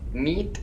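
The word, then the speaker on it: مية: It's pronounced like an A, but it's actually a T. It's called literally a tied T. It only comes at the end of a word, and when it's on its own it acts as an A, but when the word is in a sentence, the tied T acts as a T rather than an A to facilitate pronunciation. So you end up with meat instead of maya.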